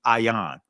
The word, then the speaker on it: ayin: But let's start with this Hebrew letter right here called the ayin. Right? In Israeli is pronounced ayin.